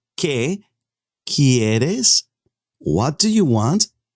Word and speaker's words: que: you want que te u is silent you don't say que you say que quieres what do you